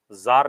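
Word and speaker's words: Tsar: हां जार बोलते थे जार निकोलस सेकंड उसका टी साइलेंट होता है जार में व सब जिनका सोशल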